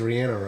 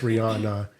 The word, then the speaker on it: Rihanna: the singer the thing but I think even supposed to be Ranna Ianna she says Rihanna yeah cuz she's like from Barbados I think she pronounces it right who actually knows her